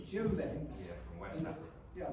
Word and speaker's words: djembe: A djembe. It's djembe. Yeah, from West Africa. Yeah, the first letter of djembe is a D, and that's what always throws me away on.